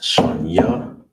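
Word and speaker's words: שנייה: how you say second It is pronounced shaniya. shaniya Here's the breakdown. The on the ancient you have the sha by itself so you have connector. Then you have the na and the ya. The the sh the na and the ya are connected. So all together it will be shaniya All right.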